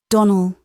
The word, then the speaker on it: Donald: Donald accent on the last syllable and St.